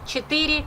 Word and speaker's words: четыре: Один, два, три, четыре, пять.